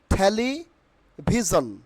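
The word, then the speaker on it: television: will be ফাফম not perform okay third যে প্রোনাউন্সিয়েশনটি এখানে আছে সেটা হলো অনেকে আমরা কি বলি টেলিভিশন তাই না নট টেলিভিশন টেলি ভিজন টেলি ভিজন টেলি ভিজন আচ্ছা এখানে পপুলার অর্থ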